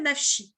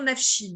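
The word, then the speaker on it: נפשי: c'est à dire que on ne lit pas comme ça s'écrit même s'il ya écrit nab show on doit aller qu'on doit le dire nachi mon âme et ça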